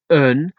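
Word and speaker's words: een: The word un is often pronounced as un and it's spelled E-E-N.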